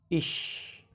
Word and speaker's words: ich: Like ICH, the sound is ish.